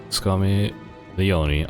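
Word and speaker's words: Scarmiglione: Scarmelione. Okay, the G is silent.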